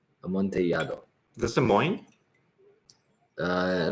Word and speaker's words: amontillado: Is that how you say Amontillado. Amontillado. When there's two L's in the Spanish language side by side, it's a ya sound. Amontillado.